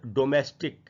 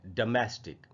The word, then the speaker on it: domestic: ये गलत उच्चारण है, इसका जो करेक्ट प्रोनाउंसिएशन है वो है डोमेस्टिक। देख रहे हैं आपके सामने लिखा हुआ है हिंदी में, ड के बाद मैं है और फिर स्टिक, डोमेस्टिक।